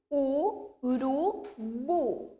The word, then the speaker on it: urubu: Urubu, eu pronuncio urubu. O bu é a sílaba mais forte dessa palavra.